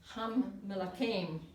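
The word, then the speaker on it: הַמְּלָכִים: Yep, ham, lakim, but actually it is pronounced ham melakim. The m is said again.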